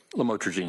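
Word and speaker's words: lamotrigine: about the u the lamel otherwise known as lamatrogene. Did I pronounce that right? Lamotraine.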